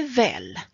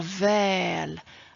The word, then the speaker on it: väl: Om du säger väl med långt ä, då betyder det samma som bra. Åh, det var väl att du kunde komma idag.